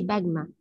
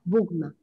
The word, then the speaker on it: بجمة: طيب هي ما اسمهاش، هي ما اسمهاش بجمع، اسمها بجمة. اسمها بجمة. ايه؟ بجمة. لازم تنطقوا صح.